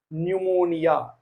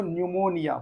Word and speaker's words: pneumonia: example P NE pneumonia pneumonia it's one kind of disease so pneumonia but not pneumonia P so p is silent so pneumonia in the